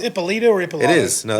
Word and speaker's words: Ippolito: See, is it pronounced Ippolito or Ippolito? It is. No, that's Ippolito.